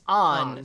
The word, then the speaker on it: Anne: in american english but because the a in japanese is pronounced ah it's on so like there are